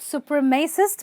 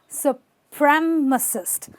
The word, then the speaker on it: supremacist: of a supremacist okay not super mesist but supremacist supremacist okay say this with